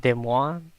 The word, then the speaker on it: Des Moines: Okay, so I'm thinking if I should get a Columbia and Des Moines because it's meat and beer.